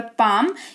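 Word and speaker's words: palm: उदाहरण के तौर पर पाम इसको पालम नहीं पाम पढ़ेंगे। यहां पर एल के इधर पहले ए है बाद में एम है तो यह पाम हो जाएगा।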